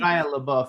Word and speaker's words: Shia LaBeouf: This Shia LaBeouf, is that how I pronounce his name? Shia LaBeouf, yeah.